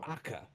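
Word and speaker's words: Acca: but with the Italian pronunciation, Aka. The whole. Okay. No. All right. They're just named letters of the alphabet. Okay. A, B, yada yada. We're now on Aka. Acha.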